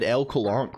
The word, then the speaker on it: LCOLONQ: It sort of said LCOLONQ, which is sort of the canonical pronunciation, actually.